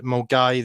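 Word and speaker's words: Milngavie: know in Scotland there's lots of places like Mulgai that's spelled Mangavi, Octamukti, places like that are like really difficult to sort of pronounce or sound completely different from the way they're spelt.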